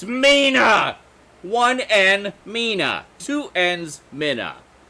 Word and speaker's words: Mina: for that to be a moment here ah Minna it's Mina 1n Mina to ends Minna pers is spelled of what end therefore Mina walking in